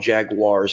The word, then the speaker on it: jaguar: well, I mean, we also call them jaguars, and that's incorrect. Well, watch what you're about to say. It's not Jagwar. Are you going to say it's jaguars? No, it's jaguar. Jaguar.